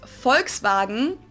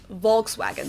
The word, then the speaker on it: Volkswagen: it would be pronounced Volkswagen and not Volkswagen so just imagine that it was spelled with an F V FKS FKS vagen